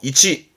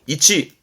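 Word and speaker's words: 位置: 발음 또한 쉽지요. 이치, 음은 치니까요. 이치.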